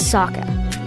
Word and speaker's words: Sokka: My name is Sokka. It's pronounced with an aka.